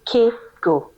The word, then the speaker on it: CAY-GO: It's called the Kaygo practice. I don't know if you've heard of Kaygo before. It's spelled c a y g o.